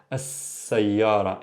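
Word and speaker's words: السيّارة: So for example, as-sayyara. I don't say as-sayyara, the car. As-sayyara. Here there's a shadda, there's an emphasis on the scene.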